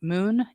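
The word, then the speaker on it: Muun: look at them I don't know how you pronounce it Moon m-u-u-n wallet for online and then Tresor wallet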